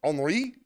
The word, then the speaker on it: Henri: This is a wisdom from Henri Matisse. H-E, it's spelled like Henry Matisse.